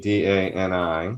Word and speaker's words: Dani: So my name is actually it's spelled Dani, D-A-N-I. It's actually pronounced Dani, which is the way you would say it in Hebrew.